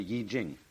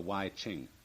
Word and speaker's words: Yi Jing: book of changes called the Yi Jing not the why Ching I'm afraid that the